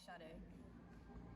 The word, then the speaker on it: Sha-dae: Okay, so it's spelled like Shay, but it's really Sha-dae. That's dope. Like, dope. Like the Sha-dae, the singer, Sha-dae. Yeah, just with an H.